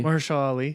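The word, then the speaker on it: Mahershala Ali: Marshall Ali.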